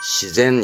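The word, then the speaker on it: 自然: 요거 조심할 거 왜냐면 전부 다 지금까지지 지지해 오다가 이거 우리말로는 그렇죠 자연이지만 시젠 있니다 시젠 그래서 명심하셔야 됩니다 알면 쉬운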